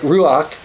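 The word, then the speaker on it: רוח: Now, when we talk about the Holy Spirit, I should point out that the Hebrew word for spirit, which we would pronounce somewhere like ruach, is feminine.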